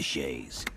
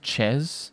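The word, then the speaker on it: chaise: you sent to the shays ever felt remorse for them the shays it's it's pronounced ches my dude it's french for chair and it's a now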